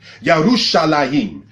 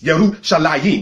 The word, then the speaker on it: Yerushalayim: Because anything that's a dual plural in Hebrew has the ayim sound at the end of it. Yerushalayim, all right, translated as Jerusalem.